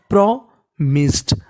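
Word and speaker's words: promised: तो मीनिंग बन गई प्रोमिस्ड। आखिरी में ED है तो ED का उच्चारण डा करना है।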